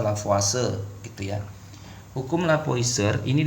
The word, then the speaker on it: Lavoisier: mag namanya Perancis ya ejaan spellingnya kalau tulisan lavoisier nih dibaca lavase gitu ya hukum lavoisier